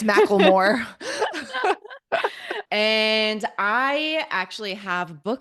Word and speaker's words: McLemore: Micklemore? Mclemore. Macklemore? I don't think it's Macklemore. Because sometimes Maybe. people pronounce that Mick with, yeah, I don't know. Yeah, it could be. It's Macklemore.